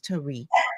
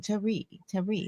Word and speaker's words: Teri: Let people know it is not Terry, it is Teri. Okay. It's On the my French mom's, way. it It's is. the It's French accent way. on the eyes. Accent on the eye. Yeah. Yes, it's like Tari, like, like French or something like that.